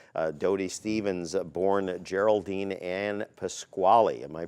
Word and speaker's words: Pasquale: is and was Dodie Stevens born Geraldine and Pasquale am i pronouncing that correctly pronounced very good and born